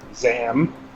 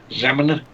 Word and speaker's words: ZAM: I suppose we should turn our attention to Zombies Ate My Neighbors, or ZAM. Zeman? However you want to pronounce it. It's silent like damn. Zam.